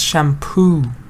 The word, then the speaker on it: shampoo: Zahra says shampoo. Yeah, you're right. Shampoo stresses on poo.